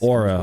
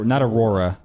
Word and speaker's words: Auror: badge on your desk Aura okay that's that's how you pronounce it not Aurora an aura I suppose